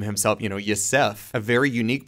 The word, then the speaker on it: Yosef: And his name comes from more of like the Appalachian pronunciation of the word yourself. So Yosef, like no matter how old you get, always stay true to Yosef.